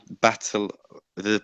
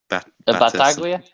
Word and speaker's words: Battaglia: Second story is you need to help me on this pronunciation, by the way. So, Battle the Braga midfielder. Battaglia?